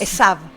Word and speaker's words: Esaú: Eh, Esaú, ¿cómo cómo lo pronunciás vos? Esab. Esab. Esab es así.